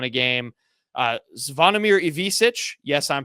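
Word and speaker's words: Ivišić: Zvonimir Ivisic, yes, I'm pronouncing that right.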